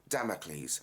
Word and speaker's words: Damocles: Firstly, it's pronounced Damocles, as in the sword of Damocles.